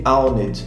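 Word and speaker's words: pwned: gíria entre os hackers se escreve com a letra p mas se lê aonde significa aqui o atacante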